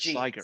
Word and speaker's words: Siger: And Siger, Hard G. Siger, Siger.